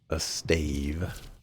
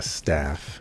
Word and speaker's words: staff: Okay, well, we were given a stave. Or I should say a staff, because that's actually how you say it.